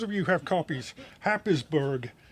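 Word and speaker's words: Happisburgh: you who have copies habisberg is pronounced hayesboro oh as we were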